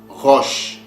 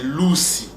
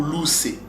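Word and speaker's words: ראש: En réalité, le mot Russie vient de ce mot-là, roche. Quand vous a déjà révélé la bonne prononciation, c'est pas roche ou rouche, mais c'est Loussi ou Loussé.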